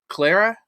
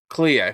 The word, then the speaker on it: Clea: Is it Clara? Is that how you pronounce it? The sister's name Um, from Expedition 33? Clea, Clea.